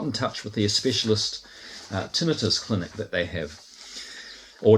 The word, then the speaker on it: tinnitus: and I got in touch with their specialist tinnitus clinic that they have, or tinnitus is the other way it's pronounced, isn't it?